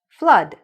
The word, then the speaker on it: flood: Or this word, flood. It's when there's too much water, right? Accumulates. You have a flood. So, similarly, even though there are two O's, the sound is of a short U.